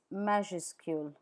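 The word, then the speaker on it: majuscule: The word for uppercase in French is meascule. Mascu meascu. Please note that the final S is not pronounced in measure school.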